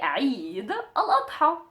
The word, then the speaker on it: Eid al-Adha: So if you wanted to say the celebration of the Adha, of the sacrificing, you would just say Eid al-Adha. Eid al-Adha. Eid al-Adha. Or Eid al-Adha.